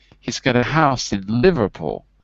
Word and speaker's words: Liverpool: got a house in liverpool so the stressed syllable is the live and because it's capitals you know that that word is more stressed than house so it's going to look